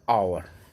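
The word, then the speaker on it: hour: प्रयोग होगा honest man एन आवर ओ आ रहा है भले इसका स्पेलिंग एच है ठीक है लेकिन ओ आ रहा है आवर आवर आवर तो ये क्या हो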